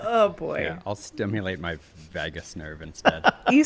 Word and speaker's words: vagus: a seance after oh boy I'll stimulate my vagus nerve instead you said it right said it